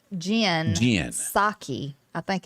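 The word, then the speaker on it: Psaki: her first name jen saki i think it's how you pronounce the p is silent i never would have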